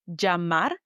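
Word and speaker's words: llamar: Number one, double L sounds with vowels J. For example, double L A sounds like jamar, which is the verb to call.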